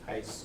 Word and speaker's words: Heiss: Did I pronounce it right? Heiss, yep. Good.